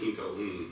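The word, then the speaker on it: Kinto'un: You said it's called the how you pronounce it? Kinto Un.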